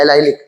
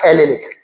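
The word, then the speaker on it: allylic: इसको अपन बोलते हैं एलाइलिक या एलेलिक। हिंदी की एनसीईआरटी में एलेलिक का प्रोनाउंसिएशन कुछ लोग एलाइलिक भी बोल देते हैं।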